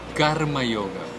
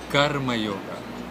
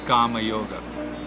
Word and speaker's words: Karma Yoga: If we take a look at the types of yogas, Karma Yoga. Karma Yoga. It is not Kama Yoga. Kama means desire, and that could mean something completely different. So it is Karma Yoga.